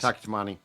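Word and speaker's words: Taki Taimani: The last name pronunciation. Yeah. I think that's right. Yeah. Close enough. That's correct. Taki Tamani.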